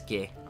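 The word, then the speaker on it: げ: You'll pronounce this as Ge, right?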